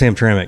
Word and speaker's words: Hamtramck: How do you really pronounce it? Well, it's Hamtramck.